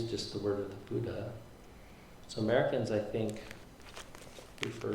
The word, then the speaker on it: Buddha: Um, if you ask a Thai person sort of to pronounce uh the name of the Buddha, they'll say bto bto, which is much closer to the the poly.